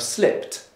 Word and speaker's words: slipped: I'll call him now the final D of slipped is pronounced more like a t sound or t I'm sorry it slipped my mind